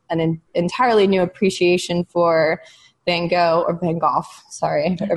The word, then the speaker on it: Van Gogh: And then in Amsterdam, of course, we all went to the Van Gogh Museum together, which was an emotional experience for me.